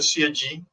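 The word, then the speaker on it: Sieyès: Sieyes o Sieyí, ¿sí?, los puristas en francés, que creo que se pronuncia Sieyí, que fundamentó el poder constituyente.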